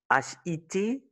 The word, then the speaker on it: hit: remarquez, pour ce mot-là, HIT, il faut prononcer un son qui se rapproche du E accent aigu français. Ici, tu vas dire hit. Il faut pas hit. Parce que c'est un son court.